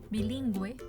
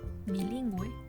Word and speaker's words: bilingüe: en todas las letras bueno y por ejemplo bilingüe bilingüe consecuencia consecuencia consecuencia significa consecuencia ahora tenemos el